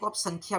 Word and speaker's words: सांख्य: याद करोगे तो सांख्य संख्या भी याद कर सकते होसे इसका उच्चारण सांख्य होता है लेकिन आप इसको याद